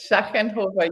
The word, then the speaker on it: Schachenhofer: Schachenhofer, yes.